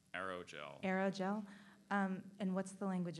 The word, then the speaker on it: aerogel: Are there any alternate pronunciations? There's just the one, aerogel.